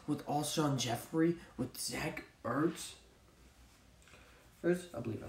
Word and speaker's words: Zach Ertz: It is Zach Ertz, right? Yep, Zach Ertz, there we go.